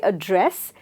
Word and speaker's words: address: And here when you say address, then you can spell or stress the second syllable.